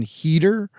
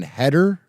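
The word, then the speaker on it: Heder: we talked about John heater the actor better known as Napoleon Dynamite some people mispronounce his name and call him John header those guys are idiots like I was a couple weeks ago and I've done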